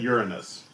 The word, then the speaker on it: Uranus: I said Uranus. Yep. I pronounced it the correct way.